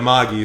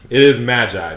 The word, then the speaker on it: Magi: magi because they i i know they don't pronounce it right but i call it maggie specifically because that's how they call it in